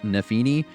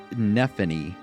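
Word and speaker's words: Nephenee: it's pronounced, that one, is Nefene, or Nefini, I think is how I pronounced it originally. I still stick by that. I think it looks and should be pronounced Nefini, but it's kind of pronounced like Persephone. It's Nephany or something like that.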